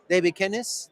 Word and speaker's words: Davy Kenis: So we have today with these awesome presenters that I was hinting, our amigo Davy Kenis. Did I pronounce it well?